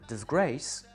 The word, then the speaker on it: disgrace: et bien en fait, le dis est inaccentué, c'est une syllabe qu'on a rajouté et grace est bien le mot d'une syllabe qui lui porte un accent et est prononcé pleinement. Disgrace.